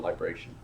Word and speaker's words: libration: That's called libration. And so it's like vibration, but spelled with an L.